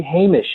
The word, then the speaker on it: Hamish: If we were to say his name again, believe me, we've been corrected often enough by now that we would say Hamish.